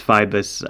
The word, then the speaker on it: Phoibos: F-I-B, a schwa, and then an S. I believe it's Phoibos.